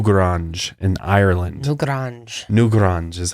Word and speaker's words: Newgrange: known as new garage in Ireland till d'orange new grunge is how you pronounce it and this thing deserves to be